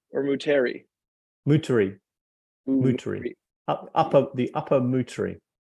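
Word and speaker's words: Moutere: Do you pronounce it Mutri or Muteri?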